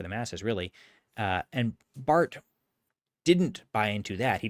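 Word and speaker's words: Barth: Uh another figure that you will hear talked about a lot is uh Carl Bart. His name is spelled B A R T.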